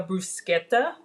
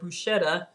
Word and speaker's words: bruschetta: bread with the oil so if you're making a bruschetta which is the proper way of pronouncing it when I was in Italy I learned that the CH sound you know we call it bruschetta actually this sound in Italian so if you want